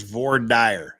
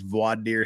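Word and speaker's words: voir dire: on Friday exactly CRA it is vo dire there ain't no other way to pronounce it all this vaad deer stuff is just you know lame and incorrect uh people keep saying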